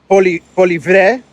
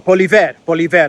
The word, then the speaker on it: Poilievre: Pierre Poilievre, I know I'm pronouncing that name wrong. Poilievre, I believe is how you pronounce it.